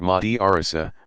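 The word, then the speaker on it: madrasa: in institutions called madrassas students in a madrassa pronounced Mahdi Orissa pursue a curriculum built around teaching of one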